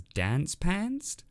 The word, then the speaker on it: Dance Pantsed: though I guess that title sounds better if you pronounce it as dance pantsed not much to say